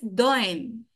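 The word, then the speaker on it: Dehaene: a e n e se pronuncia en francés doen ahí me están diciendo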